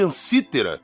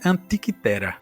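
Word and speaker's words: Antikythera: E tem que chama mecanismo ou máquina de ansítera, que, cara, é uma máquina fossilizada com engrenagem e tudo mais. É, a pronúncia grega, se eu não estou enganado, é antiquea. Antiquera.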